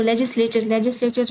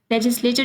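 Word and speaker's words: legislature: तो लेजिस्लेचर इसको पढ़ते हैं, सॉरी मैंने गलत से प्रोनाउंस कर दिया पहले। लेजिस्लेचर जो है ना इसका ठीक ऑप्शन है।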